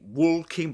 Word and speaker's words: walking: But they don't pronounce the L in American English either, you know. They don't pronounce it. That's to bear in mind, guys. All right, let's continue. So, we've got Yeah. silent L. We don't say walking, but walking.